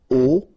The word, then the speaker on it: aux: And then phonetically you produce it or you pronounce it o.